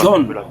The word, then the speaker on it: John: Non, John. Non, Ah, John. ouais, John. On peut le dire, John. Non, c'est pas on peut le dire. C'est le mot, c'est le nom en anglais. John, c'est pas jeans.